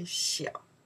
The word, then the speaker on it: 小: Maybe you can know the character, we say xiao.